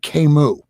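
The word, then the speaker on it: Camus: his name right now Albert Kimu I was calling him Albert cus for the longest time until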